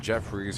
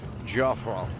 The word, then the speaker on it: Joffrey: It's not Jeffries, it's Joffrey.